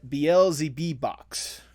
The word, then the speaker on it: Beelzebeebox: It's Jestalee and Beelzebeebox, correct? Yes, like Beelzebub, basically.